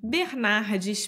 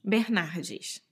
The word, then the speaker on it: Bernardes: nasal Tim Inn e o sobrenome Bernardes Bernardes que também acha difícil por causa dos erres porque tem dois né Bernardo Mas pode escolher qualquer pronúncia qualquer sotaque e tá tudo bem sim então vamos falar